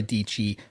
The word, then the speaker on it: Dici: We will catch you hopefully Friday for the recorded episode with my good friend Sarah Dici, rhymes with Peachy, and also hopefully next week when I will either be solo or having on another special guest.